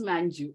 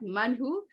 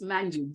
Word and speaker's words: Manju: It is Manju. It is not Manhu. It is not Manu, because that's my brother's name. It's Manju. J, you have to pronounce. It's not like Spanish where J is silent.